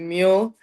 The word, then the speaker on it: Mühl: Usually you pronounce it mule, Okay.